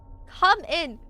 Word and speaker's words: cumin: Cumin is pronounced. Come in.